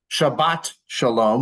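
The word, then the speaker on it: שבת שלום: good chabas is yish Shabbat Shalom with a hard T at the end would be the Hebrew way of saying that so AAL would be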